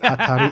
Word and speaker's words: Hatari: Yeah, I heard the voice of God confirm that Hatari is the right pronunciation.